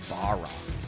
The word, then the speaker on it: Barras: We're going to hang out with the GM of the Dallas Patriots, Barras.